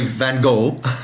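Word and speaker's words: Van Gogh: But Americans say Van Go. Van Go. Yes. Because they can't do the sound. And so that's what that's precisely what the guide told us. She said she she says Van Go or Van Go depending on who her audience or who she's taking around um the museum. Because if she says fan, she says she's had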